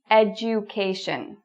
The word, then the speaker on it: education: two following words and listen to how I pronounce them. Okay? Dual. You hear that? Dual. And education. Dual. Education. So we're looking specifically at the DU in both. You'll notice that they don't sound the same.